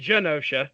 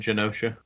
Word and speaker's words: Genosha: with gun OSHA and Genosha so are we going with us is it a soft G yeah is that a soft G that's how I've always pronounced it said Genosha sounds good to me